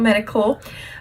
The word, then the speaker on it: Medi-Cal: There's TennCare, there's Medi-Cal, crazy because it's spelled medical, but Medi-Cal, these are state-funded programs for people low income.